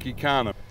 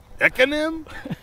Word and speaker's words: Ekanem: Always in class, they always mispronounce my name when they call the roll, but I always tell people you can just pronounce it economy without the Y.